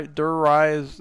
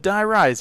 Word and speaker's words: Die Rise: rise yeah di rise I always say it wrong it's always like dur die dur rise yeah but Die Rise yeah so it did